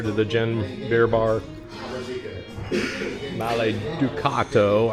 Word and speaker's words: Maleducato: Maleducato. I said it wrong earlier because the D is backward and colored out, so I thought it was an Ucato, but Ducato.